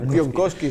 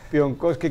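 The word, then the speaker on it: Piątkowski: eh Camil pakowski o pion kowski como ha dicho é que se pronuncia pion kowski Sí sí le ha quitado la t le ha quitado la t pion kowski que debutó como central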